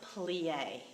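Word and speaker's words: plié: the bar start with plie so let's look how to spell it pl/i with this accent that tells us the sound that the e makes is an a sound a lot of French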